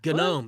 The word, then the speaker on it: gnome: I don't know, not yeah, garden genome. You're mispronouncing that. We'll Yeah. get that in pickups. Don't worry. No wonder they send it back. For correction. That's right. No, Johnny, it's gnome. It's gnome. Gnome.